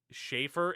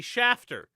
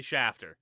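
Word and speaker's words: Shafter: Schaefer. It's not. It's clearly Shater. I'm not going to pronounce it Schaefer if that's how they pronounce it. It is clearly Shaer.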